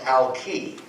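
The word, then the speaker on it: Alki: of Seattle which is alai Beach originally pronounced Ali with a short I and it was a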